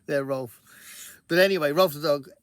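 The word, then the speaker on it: Rowlf: So Ralph the Dog is who I named my dog after, even though I pronounced it Ralph. It was better for me to say Ralph rather than Rolf, but I know the Muppets say Rolf.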